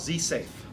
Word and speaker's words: Z-SAV: the lab we have something called z safe and it's actually spelled z-sav so we took a little liberty on the pronunciation of sab safe what it stands for